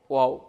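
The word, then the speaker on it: واو: এখানে দেখতে পাচ্ছি আমরা যে র অক্ষরের উপরের মাথাটা পেঁচানো, সেটাই হচ্ছে ওয়াও। ওয়াওর একটা মাখরাজ আছে, সেটা হচ্ছে ওয়াও দুই ঠোঁটের মাঝের ফাঁক হতে আদায় হবে।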